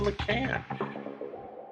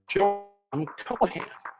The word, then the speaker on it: Cohan: Dandy where he played George M LAN I'm sorry Cohan gotta pronounce that right for you who